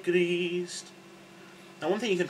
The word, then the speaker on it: Grist: And Grist, which is Christ. So remember to roll your R, so it's gr, yeah? So it's not gr, it's not greased, it's greased, yeah?